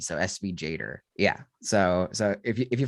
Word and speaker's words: SVGator: what's it called sv it's actually kind of hard to say sv jader like that's how that's how they say it sv jader i think it's like animator with svg so sv jader yeah so so if